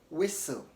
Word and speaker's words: whistle: pistol pistol not pistol so notice that t is silent in those ways also T is silent